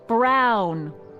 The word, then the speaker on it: Brown: to a tee that's Emmett Brown rhymes with clown which I'm beginning to